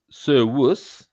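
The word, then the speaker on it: servus: Sir Wuss is a slave, right? That's in masculine is masculine. Now then sirus is spelled with is spelled s e r v u s.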